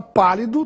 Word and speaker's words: pálido: e isso ocorre porque a palavra pálido tem a sílaba mais forte na antepenúltima sílaba P portanto é uma proparoxitono a palavra palito tem